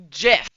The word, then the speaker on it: GIF: The the Will White, the Willite guy, the Steve guy that made the name GIF said it has a soft G and it's pronounced GIF.